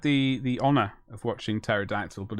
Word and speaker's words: pterodactyl: the honor of watching pterodactyl but it's it's really good not seen it so it's not spelt terror as in t-e-r i heard it it is spelled pterodactyl as in error it's been a while